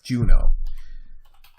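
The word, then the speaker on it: Juneau: of Alaska is Juno it's j u n e Au U yes like you would pronounce it in the French accent person who entertains the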